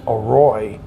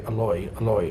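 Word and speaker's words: อร่อย: just like delicious is a roi but you'll hear them say aloy alois mac because they change the r to an l just pronunciation y so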